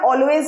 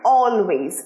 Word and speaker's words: always: অলওয়েজ, উচ্চারণটা অলওয়েজ নয়, অলওয়েজ, অলে স্ট্রেসটা দেবে, অলওয়েজ।